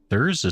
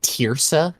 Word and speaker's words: Thurza: Thurza says, sounds great. Hi, guys. Hi, Thurza. How are you? Hey, That would be my mother. Ah, It's it's pronounced Tirsa, actually. You Tirsa.